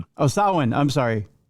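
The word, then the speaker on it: Samhain: It tells the origins story of Sam Hayne or Summer's End in Irish. What's that? It's pronounced Sin. Oh, Sawin. I'm sorry. Not Sam. Sawin.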